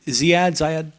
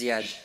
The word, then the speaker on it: Ziad: Is it Zayad? Both wrong, but it's okay. Well, tell me how I say it correctly. Yeah, it's Ziad.